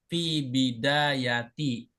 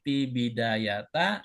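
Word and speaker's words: في بدايةِ: Maka harus kasrah ee kalimat keduanya akhirnya fi bidayati. Enggak boleh pi bidayata, enggak boleh pi biday.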